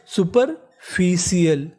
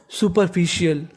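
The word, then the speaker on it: superficial: मतलब होता है सतही इस मीनिंग में भी आपको आर का उच्चारण ऐसे करना है कि सामने वाले इंसान को पता ना चले कि आपने बोला है कि नहीं बोला [नाक से की जाने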